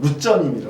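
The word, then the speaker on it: Luzern: 루체른 호수, 그러니까 우리나라 말로 하면 루체른인데 이제 거기 말로 하면 거기 발음으로 하면 루전입니다.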